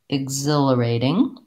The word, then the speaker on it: exhilarating: You might want to build it from the stress syllable, zil, exil, exhilarating. You might also want to take it slowly, syllable by syllable, and then speed up. For example, ig, zil, a, re, ding, exhilarating, exhilarating.